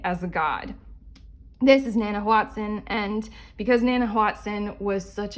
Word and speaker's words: Nanahuatzin: They chose a god, and they chose this one who is not Nanahuatzin. Is it Nanahuatzin? It's Nanahuatzin. This one, I don't know how to pronounce his name, but I'm just gonna say this guy.